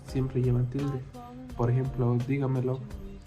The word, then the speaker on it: dígamelo: Por ejemplo, dígamelo y notifíqueselo. Dígamelo con la primera signo en la I y notifíqueselo en la segunda I.